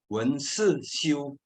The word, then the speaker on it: 聞思修: tetapi bacanya ini bahasa Mandarin memang unik ya bacanya adalah when she ciu wenzhou jadi asli Itu tulisan pakai itu biasanya